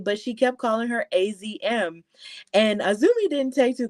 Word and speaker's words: AZM: And of course, this match was the triple threat match between herself, Hazuki, and AZM, or Azumi, depending on what your pronunciation is.